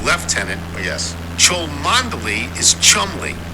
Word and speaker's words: lieutenant: English family it's fanore the military ranked Lieutenant is left tenant yes chel Mandy is